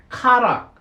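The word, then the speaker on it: χαρά: 카라, 헬라어로는 이렇게 알파벳은 이렇게 씁니다. 좀 우리 영어 알파벳하고는 좀 틀려요. 카라라고 발음을 합니다.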